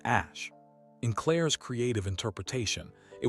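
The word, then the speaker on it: Æ: Ae was pronounced ash.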